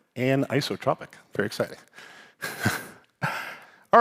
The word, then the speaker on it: anisotropic: I've been saying it wrong for 20 years. I used to say like anzotropic because I have dyslexia. So this weekend I learned anotropic.